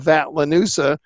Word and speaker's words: Vatlanusa: Corporation, which I call Vatlanusa, rhymes with Medusa, and the election is just bread and circuses that they hold for the population that's inside their franchise territory.